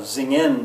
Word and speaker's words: singen: it maybe um uh singen zingen that would be singing in German uh you can use